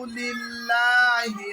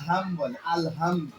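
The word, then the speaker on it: الْحَمْدُ: বাজে রাহিম আলহামদুলিল্লাহি রাব্বিল আলামিন আলহামদুলিল্লাহি রাব্বিল আলামিন এন আমল আল হাম হাম হাম হাম অনেকে কিন্তু হাম বলে আলহামদ কিন্তু উচ্চারণ হবে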